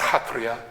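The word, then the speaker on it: Sattriya: Northeast is where um the form spelt Satria comes from um it's in my experience always pronounced hatria and um I'm not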